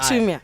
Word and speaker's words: Chumia: Chumia, it's a silent I. Chumia.